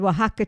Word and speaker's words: Oaxaca: And I'm not good at pronouncing this cheese. Oaxaca? Yeah. And Oaxaca cheese.